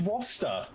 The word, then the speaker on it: Rooster: His name is not Rooster, it's Roster.